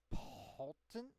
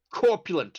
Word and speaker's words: Corpulent: Poltent Lich? Is that how you pronounce that? Corpulent Lich.